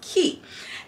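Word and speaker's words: Quay: so I've worked with key in the past um it's spelled Quake it's spelled q-u-a-y but after working with the brand it's like it's pronounced key and um I worked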